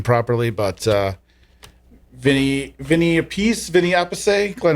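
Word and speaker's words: Appice: I I never know how to say his name properly, but uh Vinnie Vinnie a piece. Vinnie Ape Glenn, how do you say it? It's Carmine a piece. Vinnie Apey.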